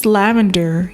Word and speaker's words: Lavandyre: Hi, my name is Lavandyre, yes, pronounced like lavender, the flowering plant herb and color.